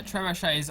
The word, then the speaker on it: trebuchet: Yeah, trebuchets are up and firing now. It's actually pronounced Trebuchet.